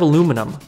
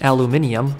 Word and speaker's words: aluminum: All right, next up we have aluminum. Commonly mispronounced as aluminium, which is wrong.